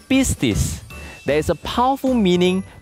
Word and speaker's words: Pistis: the answer shall we now the dog's name is pronounced as busis there is a powerful